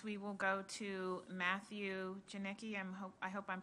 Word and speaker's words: Janicki: You did well with my name. My name is Matthew Janicki.